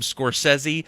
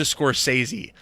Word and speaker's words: Scorsese: He should have changed his from Scorsese to Scorsese, because that doesn't make any sense to me whatsoever. That's hilarious. Okay, anyways, I'm mildly offended by the fact I've been saying it wrong, but I'm even more offended by how stupid it's actually said.